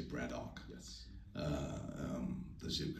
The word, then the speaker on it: Braddock: code of Braddock uh the locals the locals say Braddock yes uh um the